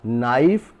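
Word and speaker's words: knife: well non word है नाइफ चाकू के एन आई एफ आई तो इसको पढ़ा जाएगा नाइफ यहां के साइलेंट होता है इसी प्रकार से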